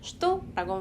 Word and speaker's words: что: 예를 들어서 표준어, 그러니까 러시아는 표준어라는 게 없지만 어쨌든 가장 스탠다드한 억양은 슈도가 맞고요. 때에 따라서 초, 슈다, 슈도 이런 식으로도 사용이 됩니다. 하지만 초 뭐 이런 거는 좀 뭐랄까 시장에서 사용하는 그런 좀 강한 언어 강한 발음이니까 우리는 그렇게 쓰지 말고 표준어로 슈도라고 발음해 주시면 돼요.